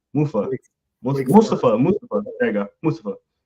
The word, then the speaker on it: Mustafa: mafah I think I say his name mu Mustafa mustfa there you go Mustafa Malik Mustafa from